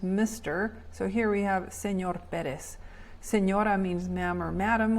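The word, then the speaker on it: señor: word on the right Senor the N is a Nia sound kind of like in Canyon and the abbreviation is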